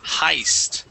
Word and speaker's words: heist: The word is heist. Okay, so the E we're going to forget all about, and we're going to use a long I sound.